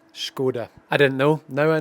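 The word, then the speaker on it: Škoda: I've been invited out here by Scoda, which is how you pronounce it, by the way, if you didn't know. It's Scoda. Skoda.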